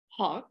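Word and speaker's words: Haak: Hawk, but it's spelled H-A-A-K.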